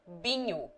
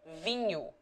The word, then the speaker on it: vinho: In Minho, for example, the people generally say binho instead of vinho, wine, and sordado instead of soldado, soldier.